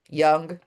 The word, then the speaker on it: Jung: Jung, they say, I say Jung because in Italian it's Jung.